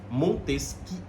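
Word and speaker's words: Montesquieu: brilhante o senhor montesquie se escreve montesque eu mas é montesque o barão de Montes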